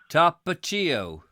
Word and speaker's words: Tapatio: You did tell me how to pronounce it, and I cannot remember. Tapatio. Tapatio.